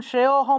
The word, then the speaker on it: শ্রেয়োহম: শ্রেয়োহম শ্রেয়োহম এইভাবে অর্থাৎ শ্রেয়টা একটু টান দিয়ে উচ্চারণ করলেই অটা চলে আসে এটাকে কে আলাদা করে ও উচ্চারণ করতে হবে না সেজন্য শ্রেয়হাম গত পিবা